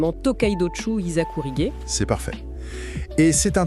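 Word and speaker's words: Tōkaidōchū Hizakurige: Ça se prononce exactement Tokidochu Isakourige.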